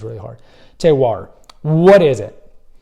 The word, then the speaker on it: terroir: you want to say terroir. Try to say it 10 times, it's really hard. Terroir. What is it? Well, it comes from the French, as you can tell.